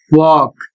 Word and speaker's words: walk: शब्द है डब्ल्यू ए एल के और इसका उच्चारण होता है वॉक और इसकी हिंदी होती है चलना।